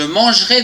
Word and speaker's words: mangerai: verbe manger demain je mangerai des frites attention ici il y a un e après le G on ne le prononce pas demain tu mangeras des